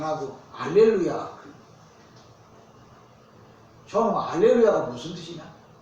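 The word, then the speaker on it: הללויה: 아까 할렐루야라고 안 하고 알렐루야. 저는 알렐루야가 무슨 뜻이냐? 잘 불렀지? 그리 물어볼 줄 몰랐지? 원래 히브리어로 말할 때면 할렐루, 야흐 이렇게 불러야 정확한 발음이에요.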